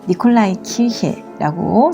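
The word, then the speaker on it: Nikolaikirche: 니콜라이 키르헤라고 독일에서 발음하는데요.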